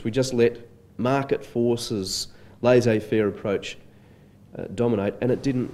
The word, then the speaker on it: laissez-faire: he uses the phrase laissez faire laissez faire is a borrowing from french it closely reflects the pronunciation of the original language and the original spelling do you know the